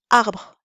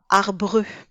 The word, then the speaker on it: arbre: Arbre se prononce arbre et pas arbreux. Nous n'avons donc qu'une seule voyelle orale, le A. Le E final ne se prononce pas. Il est muet.